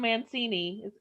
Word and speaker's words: Mancini: i call it siffy and franchise creator don mancini is that how you say it that's it